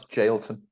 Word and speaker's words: Jailton: This guy, Jailton, how you pronounce his name? I pronounce Jailton.